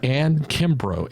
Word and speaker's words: Anne Kimbrough: This is another episode of what I call my Remarkable podcast, and I'm delighted to have as my guest today, Anne Kimbrough. Anne, have I pronounced your name properly?